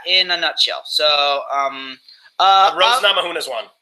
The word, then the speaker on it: Namajunas: So Rose Namajunas won. Yes, that's how you pronounce it.